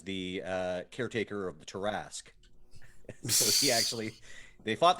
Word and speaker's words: tarrasque: a holding cell so tarask task rhymes with tarask let's see he also has had dealings with the goddess mask uh so that that rhymes with tarrasque um yeah i i